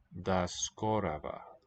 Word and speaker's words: до скорого: These unaccented O vowels will become A. That's skoraga. Skorava. And this, exceptionally, this written G is pronounced as a V. Da skorava.